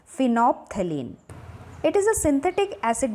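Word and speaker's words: phenolphthalein: N fine of तालीन इसमें ल silent है डेट इस वही वे प्रोनाउंस आईटी इस फिनो तालीन आईटी इस एन सिंथेटिक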